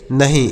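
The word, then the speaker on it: knee: के N double E इसे किनी पढ़ेंगे नहीं इसे किनी नहीं इसे नी पढ़ेंगे के एन डबल ई नी पढ़ेंगे के साइलेंट है इसे नहीं पढ़ेंगे नी पढ़ेंगे अ नी मतलब होता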